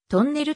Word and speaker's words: トンネル: の発音であるとんねるずを発音する要領でトンネルと発音するこのような 4 文字の名前の呼び方が高浜独特とされ最初の文字を特別強く発音する傾向にある語尾